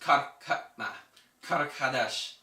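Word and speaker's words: Qart-hadasht: So Carthage actually, in Phoenician, or it's pronounced Karakadesh, and that means new city.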